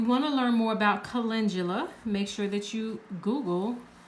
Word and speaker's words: calendula: if you've seen it written it looks like calendula looks like calendar but due at the end but it's pronounced calendula and it's a very solar energy